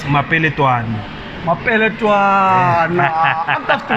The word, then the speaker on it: Mapele Twani: Well look, Mapele loko hi vula in full it's Mapele Twani. Mapele Twana. I'm tough to vela kwini guys. Mapele Twani vula syllables.